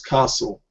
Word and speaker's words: castle: But we know how to spell, how to pronounce castle. Yeah, we know that most of us do. yes. Castle, the T is silent.